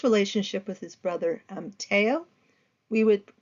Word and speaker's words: Theo: with his brother um Teo we would pronounce it as Theo but in the French they generally pronounce it as Teo but it's t-h-e-o and